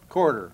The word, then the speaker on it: Coulter: Our guest today is Bill Coulter. Is that the way that I pronounce it right, Bill? Quarter. Quarter, okay.